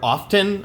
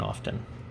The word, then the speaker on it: often: people use the word often i'm like there's no tea in often you're supposed the t is silent just like it's silent and soft and the more you